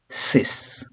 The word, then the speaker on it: six: Six is sis. Okay, we don't have the X sound but S sound.